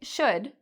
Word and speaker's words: should: Should has the same vowel sound as took. So we say should.